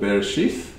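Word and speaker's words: בראשית: the english version of hebrew so we can pronounce what they actually are and so the first one is called bereshith which actually means in the beginning the second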